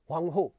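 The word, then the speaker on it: 黄河: एक को हम येलो रिवर कह रहे हैं, हुआंगहो, चाइनीज प्रोनाउंसिएशन है, चीनी उच्चारण है, तो चीनी उच्चारण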